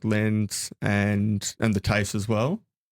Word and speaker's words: LLENs: of the education department called LENS, which is spelt LLENS, which stands for Local Learning and Employment Networks.